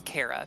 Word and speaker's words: Cara: It is Cara because they care.